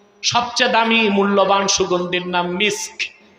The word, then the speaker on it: মিস্ক: সহিহ বুখারীতে এসেছে আল্লাহর হাবিব সাল্লাল্লাহু আলাইহি ওয়াসাল্লাম ইরশাদ করেছেন, আতিয়াবু তিবেল মিসকু, সবচেয়ে দামি মূল্যবান সুগন্ধির নাম মিস্ক, যেটাকে আপনারা ভুল বলেন মেশক। উচ্চারণটা কি? মিস্ক।